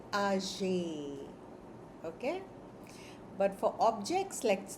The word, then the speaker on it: âgé: So, for people, you will say ah jay.